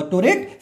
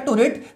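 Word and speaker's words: pteroate: Synthetase भी लिखा हुआ, टोरेट सिंथेटेज पी साइलेंट रहता है, टोरेट सिंथेटेज, इसको फोलेट सिंथेटेज भी हम लोग बोलते हैं, इसको हमने जोड़ दिया।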